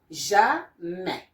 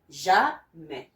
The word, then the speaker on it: jamais: lesson today, which is the J and A, which makes the sound ja. So your sound ja is here, but by now you will be getting more vocabulary, and you know this one is pronounced jamais, jamais, which means never.